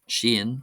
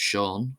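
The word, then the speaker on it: Seán: However most people in the angophone world of course will be familiar with this name being pronounced sha sha. Uh but in my small area of Gildam, we pronounce it as Shen Shen.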